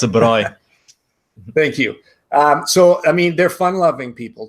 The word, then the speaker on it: braai: Is that how you pronounce it? Yeah, it's a braai.